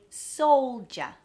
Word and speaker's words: soldier: Soldier, soldier. We don't say soldier, even though it's spelled that way. It's a ja. It's almost like there's a J, J-A, soldier.